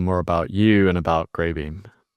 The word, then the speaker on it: Greybeam: about you and about Greybeam? They can go to our landing page, grreybeam.ai. A I that's spelled G R E Y. Uh and it's beam like light beam, not the the food bean.